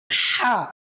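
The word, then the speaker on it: ح: বলবেন সৎ লাম হা আবার বলুন সৎ লাম হা গলায় চাপ দিয়ে হা উচ্চারণ করতে হবে আবার বলুন সদ লাম হা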